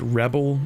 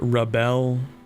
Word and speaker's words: rebel: noun or a verb like the word rebel is a noun but the word rebel is a verb but they're spelled the same so I assumed advances